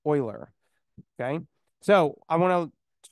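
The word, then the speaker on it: Euler: to pronounce that word I said the common mispronunciation is uler recall what is the correct way to pronounce that Oiler Oiler okay so I want to talk about the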